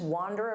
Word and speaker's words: wander: I go outside and I just wander around and see what happens and I do things on a whim. Now, notice that pronunciation wander. Don't confuse this with wonder. Wonder.